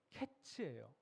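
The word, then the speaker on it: קץ: 사실 여름은 히브리어로 카이즈라고 불러요. 여름이요. 끝은 캐츠예요. 그러니까 카이츠. 캐츠 철자와 발음이 모두 다 비슷하죠.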